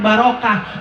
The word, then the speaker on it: barokah: Kalau ada tak marbutoh dibacanya ha. Jadi barokah.